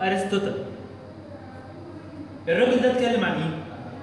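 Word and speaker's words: Aristotle: العالم الثاني اسمه ارسطو بس بيتنطق ارسطوتل.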